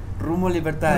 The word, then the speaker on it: Rumbo Libertad: Rumbo Libertad.